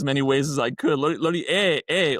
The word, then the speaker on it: Laurier: years, who up until recently consistently called me Laurier, despite the fact that I had clarified it for him many times.